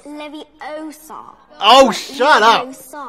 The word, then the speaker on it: Leviosa: and the beaters besides you're saying it wrong it's leviosa oh shut up